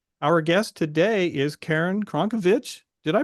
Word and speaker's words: Crnkovich: Verity Seeker, and our guest today is Karen Crnkovich. Did I pronounce that correctly? You didn't, but you're in the majority, Mark. It's actually pronounced Crnkovich. Crnkovich.